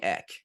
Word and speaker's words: Ek: People call me Ek, so it's X Experience.